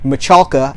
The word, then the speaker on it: Michalka: these are sisters and AJ Michalka I believe is how you say their last name is on the Goldbergs